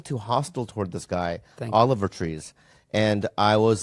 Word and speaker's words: Oliver Tree: was like you know Olive ver tree is Oliver tree I just want to say it right Oliver tree mhm was